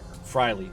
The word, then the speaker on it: Freilich: my dad's been there michael fryler is all about why frilly okay that's how you pronounce his name so there's your launch